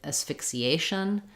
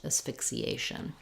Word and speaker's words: asphyxiation: then same thing where with asphyxiation again Asian gets dressed asphyxiation um okay um we